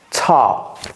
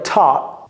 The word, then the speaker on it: taught: OK to teach t donc ça c'est ta soit vous pouvez prononcer le T à la fin ou pas donc vous pouvez dire ta ou bien très légèrement ok vous voyez comment